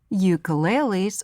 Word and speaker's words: ukulele: Ukuleles, or in Hawaiian it's pronounced ukulele, is also called a uke.